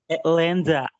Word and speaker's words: Länder: Länder. Bukan lander ya, itu A umlaut, bacanya E, ingat baik-baik, A umlaut dibaca E, Länder, gitu ya.